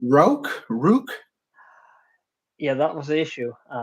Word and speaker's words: Rauk: Rook?